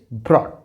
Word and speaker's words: brought: यहाँ पर GH silent है तो इसका प्रोनाउंसिएशन होगा बॉट, बॉट। यहाँ पर इट इज़ कॉट, cot. Here it इज़ ब्रॉट, ब्रॉट।